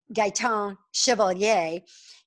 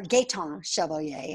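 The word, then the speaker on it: Gaëtan Chevalier: their head researchers uh gaiton chevalier he or gaeton chevalier i'm sorry gay time i didn't say that right the first time uh he's been on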